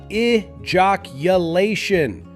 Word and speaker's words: ejaculation: This word is often stretched or rushed, but the correct way is ijaculation. Start with the soft I then jock.